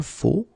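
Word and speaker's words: faux: So one more time, it goes like je faut. Okay, remember X, but then you don't pronounce it.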